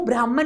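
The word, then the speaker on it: ब्रह्मन्: करते हैं ना शूद्र ये वो ब्राह्मण नहीं है ब्रह्मांड भी नहीं है ब्रह्मांड क्या है कॉस्मस जो सिर्फ और सिर्फ cosmic bodies no this is pronounced as ब्राह्माण ब्राह्माण क्या है एक यूनिवर्सल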